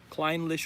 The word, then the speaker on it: Clynelish: Don't pronounce the E. So, Clynelish without the E. Clynelish whiskey.